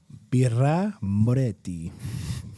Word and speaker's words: Birra Moretti: Birra Moretti.